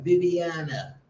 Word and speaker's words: Viviana: What's going on, Viviana? Yes, that's how you pronounce it.